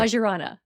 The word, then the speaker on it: Vajrayana: Vajrayana. Perfect. Okay. There you go. I did. I went and I Googled pronunciation and put that one in.